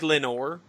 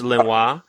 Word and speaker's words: Lenoir: name right in this it looks like lenore that's what i have french it's linwa uh obviously she's [